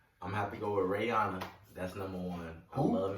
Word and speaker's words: Rihanna: can't say your name right a Syria it's Rihanna it's not real it's how I pronounced um let me see oh I'm